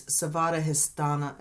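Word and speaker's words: Svadhisthana: dwelling place oh and and in sanskrit it's savada histana is how you say that uh the location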